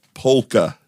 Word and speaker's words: polka: I believe you have to pronounce the L, Matt. Oh, sorry. It's polka.